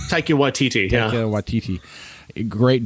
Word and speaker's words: Taika Waititi: I mean, hell, like you said, you got, how do you pronounce his name? Taika Waititi? Taika Waititi, yeah.